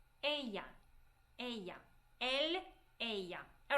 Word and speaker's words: él: He will be él. Él. Él. Make it soft L. Él.